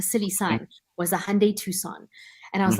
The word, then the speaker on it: Tucson: Right, and you spell it Tucson. Yeah, it's like Tucson. Oh, like the car.